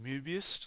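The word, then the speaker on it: Möbius: back edge of this so this is the mobius strip there's actually um lots on the o so this should be actually uh pronounced mubist strip mobius strip or mobius band um and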